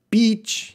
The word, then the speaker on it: beach: all right tika narf Beach yeah this is a this is a funny one Beach sounds like how to pronounce Beach you gotta be careful with that one long it's a long time beach beach I go